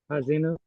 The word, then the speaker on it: Ha'azinu: Ha'azinu? Azinu? Yeah, that's next week. Yeah. Yes, Parsha. I think you're right. Yes, Hazinu.